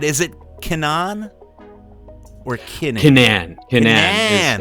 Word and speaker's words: Kinnan: Kinnan is how the family pronounces it.